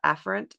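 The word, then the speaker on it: afferent: is sympathetic and then the red is the affrant pathways is that how you pronounce that an yes yes so the afren pathways are the pathways going from the body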